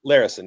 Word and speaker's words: Larison: I don't even know how to pronounce his last name. Is it Lan Larison? Larison, yeah.